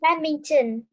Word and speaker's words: badminton: Badminton. Badminton, yes. And the stress is on the second syllable, right? The first syllable, badminton.